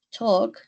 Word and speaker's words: talk: St el verbo hablar Talk talked ojo que en esto en el verbo hablar la l es casi muda es una l diferente a la nuestra no decimos Talk sino